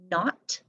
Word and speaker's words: knot: Then we have the N spelled with KN, like kneel, knee, knock, knot, knife, knit, and knack, and oh, knit's down there.